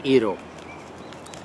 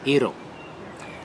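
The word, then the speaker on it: gyros: look at that chicken eero it's it's spelt jiros that's eero and it's pita bread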